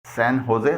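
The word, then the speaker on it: San Jose: نام ہیں، جیسے SANJOSE، اسے سین ہوزے بولا جاتا ہے، یعنی جے سے ہے کی ساؤنڈ نکلتی ہے۔ یہ کیلیفورنیا میں ایک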